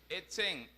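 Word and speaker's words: עצם: Ahora, esta palabra huesos en el idioma hebreo se pronuncia etzem, E-T-S-M, y se la usa para decir o referir huesos, esencia, restos humanos y fortaleza.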